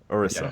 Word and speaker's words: Orisa: So I was getting the name wrong before. The boys had to correct me. So Orisa. That's how I've got it right this time. Yeah, boys. Orisa.